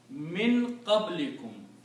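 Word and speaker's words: مِن قَبْلِكُم: So this dhamma is pronounced now as a kasra, so it becomes min qablikum.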